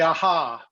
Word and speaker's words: AJA: uh asia and uh you certainly could say aha but uh the the actual pronunciation for the company is aja it's uh it's the initials speaking of steely dan